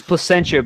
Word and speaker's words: Placentia: place called Placentia well it's it's Placentia because um it was originally called plac by the French and then nobody could pronounce that so they went to placentra which is coincidentally spelled like placenta of course yeah there's